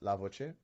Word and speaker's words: LA-VocE: speech enhancements entitled lavoce it's pronounced lavoce which means the voice in Italian engineer foreign my name